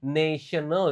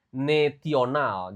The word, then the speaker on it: national: When I was working in a multinational company, national ya, bukan naional. Jadi T-nya dibaca kayak S di sini.